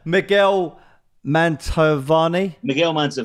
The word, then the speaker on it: Miguel Mantovani: I want to talk about, I'm trying to pronounce this right, let's call it alienness, or, sorry, stage name, I'll say that word better. Miguel Mantovani. Yeah, that's it.